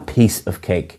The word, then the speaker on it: piece of cake: them properly and again the pronunciation is a piece of cake you're stressing piece rather than cake